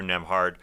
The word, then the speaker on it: Nembhard: Andrew Nembhard, who's got that silent B in his last name in between Nem and Hard.